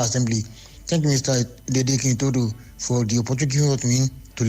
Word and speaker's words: Itodo: And my confirm, well, it is Itodo, right? Some people just mispronounce it sometimes, but it's pronounced Itodo. So please take note.